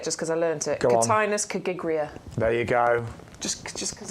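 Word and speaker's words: Cotinus coggygria: Cotinus cagigria.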